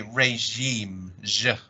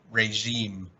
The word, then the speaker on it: regime: and this one is pronounced as if it was still a French word because we took it from French so we say regime regime regime is it about